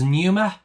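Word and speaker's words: pneuma: And for bleep and there was numer p n eu m a so another silent letter word.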